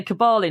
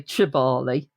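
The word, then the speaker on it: Kibale: Um when you're there, by the way, in western um Uganda, they pronounce K as a cha. So you can say Kabali National Park, which how it's spelled. You can say Chibali.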